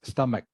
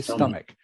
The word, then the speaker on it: stomach: one probably is pronounced stomach okay stomach like as like it is a k all right stomach stomach even though it is spelled CH it is pronounced K stomach stomach all right